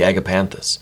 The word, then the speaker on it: agapanthus: it's the agapanthus I I know how to pronounce that now the agapanthus words of Love speak with your heart when